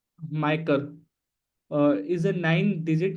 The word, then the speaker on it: MICR: magnetic Inc character recognization micr code uh pronounced micer uh is a nine